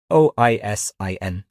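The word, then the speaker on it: Oisín: For non-Irish listeners, Oisin is spelled o i s i n.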